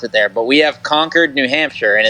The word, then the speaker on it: Concord: me this weekend was everyone saying Concord oh my gosh like you can't say conquered that's what they say